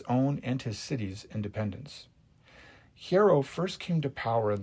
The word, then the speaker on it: Hiero: I've always pronounced his name in reading it Hero, but the proper pronunciation is Hiero, I guess, Hiero.